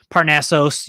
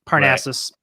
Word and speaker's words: Parnassos: now it is os i assume it's pronounced parnassus i don't think i've ever heard it pronounced officially parnassos you might say but parnassus is correct no i i honestly